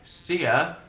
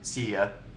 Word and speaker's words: Sia: for it, followed by Sia, which I think quite much is how you pronounce her name.